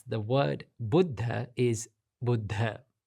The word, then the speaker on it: Buddha: Now, the correct way to pronounce the word Buddha is Buddha. It's not Buddha or it's not Buddha, it's Buddha.